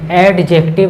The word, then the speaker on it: adjective: ए और जे के बीच में जो डी होता है उसका हम लोग प्रोनाउंस नहीं करते हैं, वो क्या होता है, साइलेंट होता है।